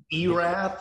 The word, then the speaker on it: Erath: Oh gosh, Erath, is that? Yeah, up by Boyd and all that. Like Erath. Elath, how do you spell that? Erath, ERATH. ERATH.